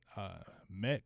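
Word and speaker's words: Kmet: Cole I believe in I don't know if it's Matt Cole man in the K is silent from Notre Dame good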